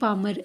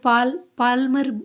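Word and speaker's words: Palmer: पामर। H.E. पामर जो था, इसमें इसको पाल्मर नहीं बोलेंगे क्योंकि एल यहाँ पे साइलेंट है।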